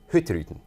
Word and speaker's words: Hurtigruten: The Norwegians like to spit this name out like it's one syllable, so they say Hurtigruten. Oh, Lord. You have to be really fast.